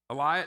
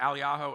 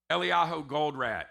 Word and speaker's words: Eliyahu Goldratt: And how do you pronounce his name? Elias? No, not Elias. Eliyahu. How is it? Eliyahu Goldratt.